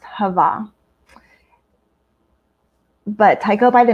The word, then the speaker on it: Hava: For that particular genre, that is my pen name, and it's pronounced Hava.